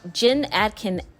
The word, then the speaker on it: Jen Atkin: I always get her name wrong. Jen Atkin.